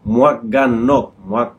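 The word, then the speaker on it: หมวกกันน็อก: En thaïlandais, ça se dit en 3 syllabes. Moaganok.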